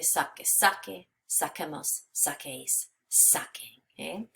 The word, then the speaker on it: saque: So we want to keep that hard sound with the Q-U.